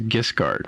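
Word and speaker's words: Giskard: His name is Gisgard, right?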